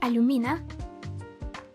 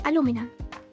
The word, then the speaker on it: Alumina: Um, sometimes people call like my parents call like my parents pronounce it as aluminina. Uh, some people call me Alumina and I say aluminina.